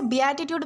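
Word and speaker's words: beatitude: दोस्तों इसे बी एटीट्यूड pronounce किया जाता है जिसका मतलब होता है परम आनंद या फिर धन्यता।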